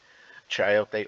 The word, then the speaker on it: chayote: Chayote or sayote, depending on how you pronounce it, 0.8 kilo at 40 per kilo, 32.08.